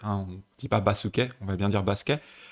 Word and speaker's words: バスケ: C'est vrai que littéralement c'est basuke, mais quand on a le son se qui est coincé dans des consonnes, par exemple on a un ke derrière, ça devient basket.